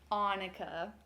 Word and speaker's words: Annika: It's Annika. It's like Monica without the M.